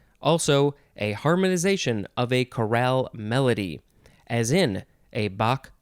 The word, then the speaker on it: chorale: no e is coral the emphasis for the one that has the e is on the second syllable chorale this is a noun